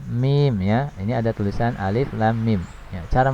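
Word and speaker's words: الم: Bukan dibaca dengan misalnya alama, bukan ya, tapi dibaca dengan huruf penyusunnya. Jadi cara membacanya adalah seperti ini. Alif lam mim ya, dibaca 6 harokat ya, kecuali alif.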